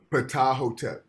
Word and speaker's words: Ptahhotep: Ptahhotep.